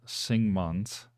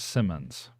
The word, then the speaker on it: Sigmunds: there by the way my last name is pronounced sigmunds not Simmons oh okay uh Simons